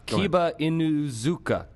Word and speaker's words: Kiba Inuzuka: one of those character names that luckily everyone pronounces right really well let me give it a shot kiba inuzuka there you go you got it you got